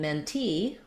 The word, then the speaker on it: mentee: And in mentee, we have our main stress on the second syllable, T.